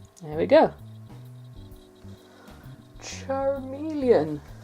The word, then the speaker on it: Charmeleon: Charmeleon. Spell it romanized. C H A R M and then looks like melon but it's not. Charmeleon.